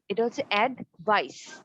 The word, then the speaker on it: advise: হ্যাঁ লাস্টে জিজ হবে, একদম জেড টাইপের একটা উচ্চারণ আসবে।